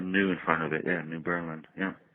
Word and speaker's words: New Berlin: New Berlin. New Berlin, okay.